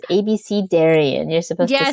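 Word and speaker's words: abecedarian: we had all these um conversations about it's abis cidarian I've been pronouncing it wrong all my life it's ABC Darion you're supposed to say yes I I looked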